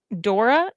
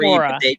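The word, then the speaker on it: Dore: E, but I think they call it Dora. They call it Dora. It's pronounced Dora.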